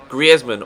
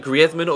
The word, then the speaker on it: Griezmann: And he asked the commentators in Spain to pronounce his name the Spanish way. So that's the reason why I call him Antoine Griezmann or Griezmann rather than Griezmann.